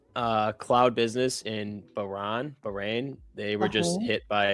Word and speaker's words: Bahrain: I mean it says current but uh how do you pronounce it again? Bahrain. Bahrain.